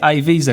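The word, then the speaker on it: Eivissa: visa because a visa the spaniards say a visa because it's actually spelled e i v i s s a i think a visa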